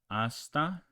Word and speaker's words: hasta: Okay, the H is silent. In Spanish, okay, so you don't pronounce this as in hombre, you pronounce hombre, and you don't pronounce this H. It is silent. Hasta, hablar.